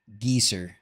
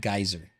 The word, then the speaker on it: geyser: it correct is to let her say geezer instead of geyser oh you're talking about